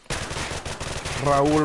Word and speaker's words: Raul: Raul. Roll the R.